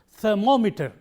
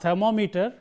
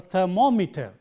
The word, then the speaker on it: thermometer: instrument of measuring something, the stress is on the syllable immediately preceding meter. And look at this word. In this word, the syllable immediately preceding meter is this, and therefore, we pronounce it thermometer, not thermometer, but thermometer,